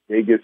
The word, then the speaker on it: Vagus: Our website's Vegas Nerve Band, and that's Vegas. The way it's spelled is VAGUS Nerve NERVE.